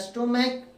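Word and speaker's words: stomach: एस टी ओ एम ए सी एच सी एच का उच्चारण क हो रहा है। क उच्चारण प्रोनाउंसिएशन निकलता है।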